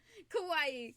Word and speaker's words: kawaii: Oh, it's just pronounced kawaii. I can do that. Kawaii.